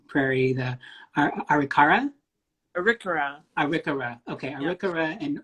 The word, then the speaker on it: Arikara: And of course, a Native American, Indigenous person with make sure I'm pronouncing this right, Prairie, the Arikara? Arikara.